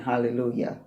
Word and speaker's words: Hallelujah: Now, as you know, that word is spelled with a J, J-A-H at the end. And it's clearly being pronounced as a Y, Y-A-H at the end. Hallelujah.